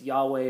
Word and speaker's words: Yahweh: of God it's uh it's Yahweh or yahovah there's a little bit of difference of opinion on the pronunciation but it's God's it's